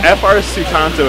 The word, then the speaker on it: Frsutanto: Frsutanto is actually how it's pronounced.